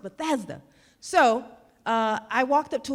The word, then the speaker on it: Bethesda: the Bethesda, Maryland area, and she kept saying Bethesda. And I said, man, she keeps saying Bethesda. It's pronounced Bethesda. So I walked up to her and I said, it's called Bethesda.